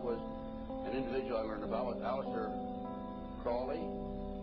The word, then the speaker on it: Crowley: an individual about aliser Crawley he likes to have his name pronounced Crowley to rhyme with holy and uh the satanists